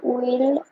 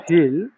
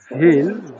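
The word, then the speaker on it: will: house building করতে তখন কি হবে এটা কাউসার উইল আইনেন উইল হবে না হ্যাঁ ডব্লিউ এর উচ্চারণটা কিন্তু উইল হয় ডব্লিউ হয় না ভে ডব্লিউ এর উচ্চারণ হয় ভে তাহলে হচ্ছে কাউসার ভিল ভিল ভিল ডাইরেক্ট ভিউ আসে না উই আর ভির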